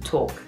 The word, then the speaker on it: talk: The L is there, but it's just really difficult. So we just say talk.